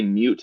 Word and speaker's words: mut: there's like a so I say mute as in like the first part of mutable but a lot of people also say mut and so I think